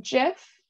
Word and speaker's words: GIF: central time but let's see we've got um jiff we've got hard g hard g um and then we've got gif like gift um hard g it seems like